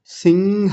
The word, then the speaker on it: सिंह: अब देखिए सिंह ह का उच्चारण बाद में आना चाहिए। नहीं तो कई बार इसको सिंह बोल देते हैं।